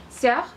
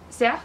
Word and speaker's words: sœur: Entonces, OE se pronuncia como O y podemos encontrar ejemplos de esto en palabras como œuf, œuf, que significa huevo, sœur, sœur, que significa hermana, y cœur, que significa corazón.